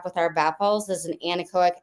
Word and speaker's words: Anechoic: it because it is beautiful um am I pronouncing it wrong I said anaco no anaco is correct okay okay okay so our name